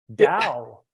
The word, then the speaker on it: Tao: Well, first off, it's pronounced with a D, but it's spelled with a T. I don't know why. Tao. It actually has something to do with how Chinese is translated into English.